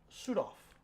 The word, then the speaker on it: Suthoff: And make sure I say sudph. Nailed it. Did I say it right? Now it's s u t, but it's the German pronunciation.